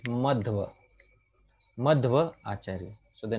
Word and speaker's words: Madhva: Because sometimes some individuals mispronounce his name as Madhva Acharya or Madhava Acharya. No, no. The name is Madhva.